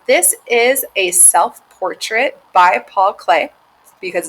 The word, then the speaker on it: Paul Klee: spell his name and it might look like it's pronounced paul clee but it's actually pronounced paul clay and he was a